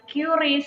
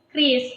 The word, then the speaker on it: QRIS: membacamu itu masih salah Sebenarnya ya teman-teman cara membacanya itu bukan curis tapi Inggris Jadi kamu tadi Yuda juga masalah yang benar adalah tadi aku salah nih harusnya tadi Kris bukan oke terus kalau misalkan langkah-langkah dari penggunaan